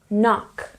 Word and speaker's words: knock: are some examples Knack knock knuckle you might also notice in the beginning of these words there's also the letter K which again is silent so there's two silent